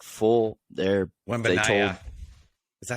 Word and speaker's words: Wembanyama: Like full, they told, Wembanyama. Is that how you say it? yeah. I mean, Wembanyama.